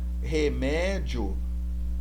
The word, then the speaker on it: remédio: Remédio, o mé é a sílaba tônica.